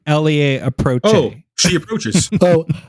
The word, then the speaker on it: elle approche: It's like Elie approche. Oh, she approaches. Oh, elle approche.